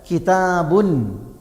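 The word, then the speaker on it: كتابٌ: ഈ സുക്കൂനായ നൂൻ എഴുത്തിലുണ്ടാവില്ല, പിന്നെയോ അത് ഉച്ചാരണത്തിലേ ഉണ്ടാവും. ഇപ്പോൾ ഞാൻ പറയാം, കിതാബുൻ, കിതാബുൻ, ബുൻ ഉണ്ടോ, സുക്കൂനായ നൂനുണ്ട്.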